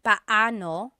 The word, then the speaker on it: paano: just a pronunciation tip it's technically paoo when there are two vocab when there are two vowels together you say them separately but when speaking quickly Filipinos just Sayo P now let's practice using